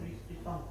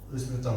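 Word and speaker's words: Louis Vuitton: Nah, kemudian juga dia berkolaborasi dengan ee produk fashion namanya LV atau bahasa Solohnya Luis apa bacanya? Luis Pitton. Luis Piton.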